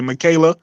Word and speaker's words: Michaela: The first name is easy, Michaela. Even though it's spelled Michael A, but it's Michaela. Yeah, Michaela.